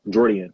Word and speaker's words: Jordian: Jordian is how you say my first name for people who don't know.